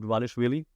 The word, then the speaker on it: Dvalishvili: Sean O'Malley, the champion, and if you look at like his physical behavior, after he then lost to Merab Dvalishvili, that's how you say it, Chelsonen, he left.